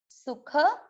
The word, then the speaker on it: सुख: सुख, सुख, ख पूरा इसलिए सुख दुख कोई ना बोले, सुख, ख में अ मिक्स करना है, दुख, दुख।